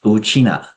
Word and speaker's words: 吳啟訥: My name is Uchina with the family name first. The pronunciation is exactly the same as how Ryukyu people refer to themselves as Uchina.